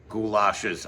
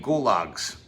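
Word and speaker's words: gulag: Oh, goulashes. I mean goologs. Sorry, I mispronounced a word.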